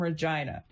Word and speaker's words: Regina: Canada that is okay it was named after Queen Regina but nobody knows how to say Regina so it became Regina because it wrote it rhymes with that thing I'm guessing I